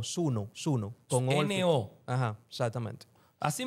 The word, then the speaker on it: Suno: ¿Cómo se escribe para que la gente lo S U n E okay? S U N N Sune. No, Suno.